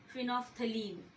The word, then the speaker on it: phenolphthalein: L is silent, phenolphthalein.